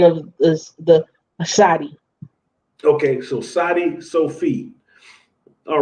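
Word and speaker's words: צדי: T is more of an S sound, correct? Yeah, like CATS, that TS on the end of the word cats. Okay. That's the pronunciation of this, the Sadi.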